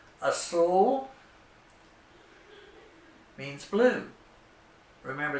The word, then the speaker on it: azul: Azul. Azul means blue. Remember, there's no Z sound in Spanish, so it's pronounced like an S.